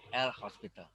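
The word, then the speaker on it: L'Hôpital: dalil l Hospital ingat Hospital tulisannya tidak pakai S tapi pakai topi o-nya bacanya host ya l Hospital kemudian tipe duanya nol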